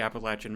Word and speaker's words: Appalachian: I have family up near the Appalachian mountains, and yes that’s how you say it